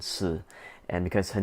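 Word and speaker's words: Shi: to call it as She, but it's supposed to be Si. So the H is silent, Si, and because her name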